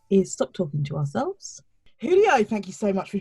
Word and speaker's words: Julio: your childhood nickname ah so my name is spelled with a j julio but people always be like julio giulio just because well for everybody out